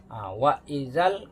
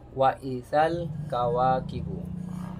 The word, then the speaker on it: wa izal kawakibu: Wa izal kawakibu. Jadi bacanya wa izal kawakibu. Jadi bukan wa iza, tapi wa izal kawakibu. Itulah contoh.